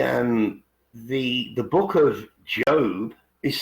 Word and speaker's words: Job: the Bible the um the the Book of Job is spelled j o but it it's pronounced job